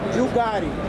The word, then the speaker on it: Bugatti: It's pronounced Bugatti. You want it to Bugatti.